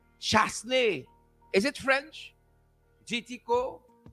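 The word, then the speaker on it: Chastanet: I see JT Co informing me that the St. Lucian PM's surname is pronounced Chasney. Is it French? JT Co? I hope I'm pronouncing your name right. Well, if Chasney it is, it's Chasney.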